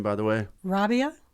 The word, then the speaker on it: Rabiah: name by the way Rabia Rabia it's just an uh Rabia it's more like uh what do they call that a diphthong when and when a